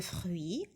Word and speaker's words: fruits: de fruits أيضا من الفواكه fruits UI تنطق oui كيما نقولوا نعم oui fruit T c'est une